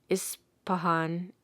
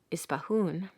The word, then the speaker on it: Ispahan: Mazandaran is likewise pronounced Mazandarun. Ispahan, Ispahun.